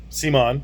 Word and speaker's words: CMON: CMON, or CMON, or however you want to pronounce that, I've always pronounced it CMON, has sold Zombicide to Asmodee.